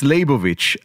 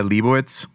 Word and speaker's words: Leibovitz: and for all well for the mahadrin it's leibovich uh but here for some reason it's hard to pronounce so i could buy leibowitz nice even yeah kind of smooth it over